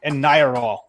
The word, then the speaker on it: Anyaral: So, Mike, tell us a little bit about, am I pronouncing it right? Anyaral. Anyaral. Anyaral. Okay, I just I did it right. You got it spot on.